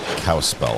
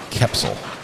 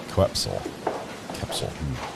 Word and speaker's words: Kepsel: I've been pronouncing that detective's name wrong. Thought it was like Cowspell or something. Kepsel. Kepsel.